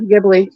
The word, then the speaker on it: Ghibli: Like Susie's coming out with her is it Ghibli? Is that how you say it? Ghibli? Yeah, Ghibli.